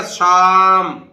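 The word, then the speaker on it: psalm: देखिए तो क्या बोलेगा ये पी भी नहीं बोलेगा एल भी नहीं बोलेगा तो क्या बोलेगा शाम शम यह बोलेगा शाम इसी तरह देखिए ये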